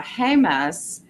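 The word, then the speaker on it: Jemez: highly recommend but also um we have a hus which is spelled j m z and that has natural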